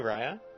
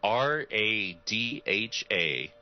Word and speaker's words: Radha: Nice to It's meet a- you, Raya. It's a firm shake from the rabbit, the hare. King's is loose and sloppy. No, it's Spelled how? It's an Irish spelling, but it is Radha. Raya.